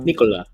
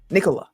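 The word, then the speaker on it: Nikola: It's pronounced the exact same way as Vousvich's first name in Chicago. So, you know, Nicola. Nicola.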